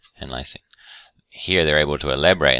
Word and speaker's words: lysine: INE, these all have INE on the end, but they're actually pronounced different. This is lysine, and this is arginine and histidine.